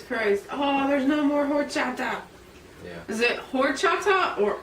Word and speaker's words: horchata: Horchata.